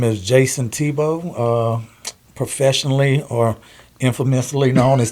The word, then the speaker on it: Thibeau: or infamously known as Tebow the. Yeah. From Baton Rouge, Louisiana. Where did that name come from? Well, Tebow's my last name, actually. Yeah. So, I just shortened it up. It's spelled Thibeau.